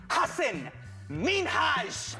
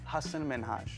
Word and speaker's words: Hasan Minhaj: However, the moment Ellen mispronounced his name, the discussion shifted directions. Hassan Minhaj. Say it again so that people hear it again. Hassan Minhaj.